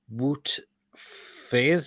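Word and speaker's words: Wout Faes: monstery again let's have the bought player called woot phase is how you pronounce his name he's a belgian center back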